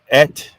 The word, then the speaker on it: eat: Ed up by Bigfoot ET being the correct pronunciation of eat in some areas of Oklahoma Arkansas and few other places got to say it